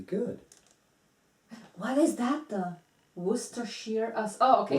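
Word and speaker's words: Worcestershire: that was really good what is that the wer Shear oh okay it's wer Shear okay yeah oh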